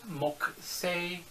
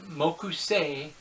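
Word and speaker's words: 木星: again you could say moku say that's how the actual way to say it but the japanese once again that you odd rule where the u was silent before the k or sometimes after the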